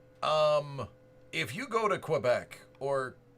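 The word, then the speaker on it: Québec: the cool things um if you go to Quebec or kbec as it's pronounced um if you want to get a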